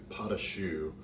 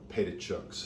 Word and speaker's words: pâte à choux: how to make a basic pot of shoe uncle matt used to call it painted chucks as you can see and claire will post the recipe and the proper pronunciator spelling of potashu because it does look like pita chunks it's a very simple